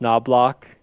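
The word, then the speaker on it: Knoblauch: Woodcraft um brought in I believe is pronounced noblock uh that's what we're going to go with for the Pod um and yeah I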